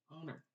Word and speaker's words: honor: is silent and honest and then we have honor honor because the is silent and then that o ising that sound